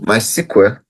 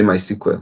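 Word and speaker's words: MySQL: modify how you want it to behave so my squl as some people say my SQL but we simply say my SQL so uh that's the way we normally pronounce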